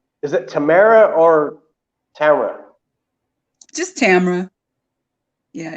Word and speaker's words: Tamera: you is it is it i want to pronounce this correctly is it is it tamara or tamara just tamara yeah not just not just just it does